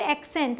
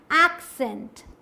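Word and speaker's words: accent: Next is this one, इसे हम पढ़ लेते हैं एसेंट या फिर एक्सेंट, लेकिन दोनों ही गलत हैं। सही क्या है, एक्सेंट, ए का साउंड आएगा, एक्सेंट, एक साथ जोड़ेंगे इस तरीके से।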